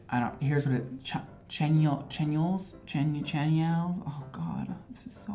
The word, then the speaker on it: Chanyeol: It's like, here's what it, Chanyeol's? Oh God, this is so bad with the pronunciation. Chanyeol's.